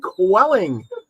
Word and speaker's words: Koetting: great guess for you the one only quelling I hope I pronounced that qu quite right yeah you got